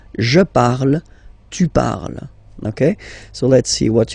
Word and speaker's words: parles: Phonetically, tu parles. So you've got the two first forms, you pronounce them the same way. You write them differently, of course, because you've got here, and then you've got and s, okay? But then phonetically, they are the same.